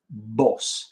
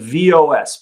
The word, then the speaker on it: vos: Vos. It's spelled V-O-S, but don't say vos. It's vos.